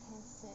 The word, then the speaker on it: Hesse: Hermann Hesse.